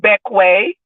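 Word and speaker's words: Bequia: to the main island is called beckway and it's spelled b-e-q-u-i-a it is a Latin word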